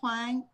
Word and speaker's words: Huang: name is h-u-a-n-g so i put the u in there i pronounce the you because i'm a stupid american you know you can call hwang or hwang doesn't matter whatever you feel comfortable